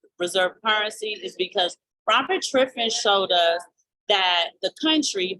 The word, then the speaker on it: Triffin: So what the Triflin dilemma I'm sorry, Triffin. Sometimes I get his name wrong.